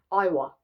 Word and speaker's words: Iowa: Iowa. Yeah, Iowa? Is that how you pronounce his hometown?